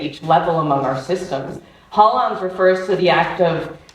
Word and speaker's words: holons: It's HOLONS, it's spelled HOLONS.